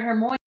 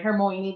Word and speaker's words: Hermione: Hermione, right? I think that's how you pronounce it, right? Hermione, that's how we found out on the movies.